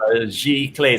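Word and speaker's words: giclée: about printmaking so uh the word that michael couldn't pronounce or rather most of you gonna pronounce is actually pronounced nice g-clay so let me just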